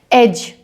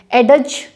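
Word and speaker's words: edge: Railing लगी होती है, एज। यहाँ पे आप EGE ये प्रोनाउंस करेंगे, एज बोलेंगे, एडज नहीं बोलेंगे। कैसे प्रोनाउंस होगा, एज।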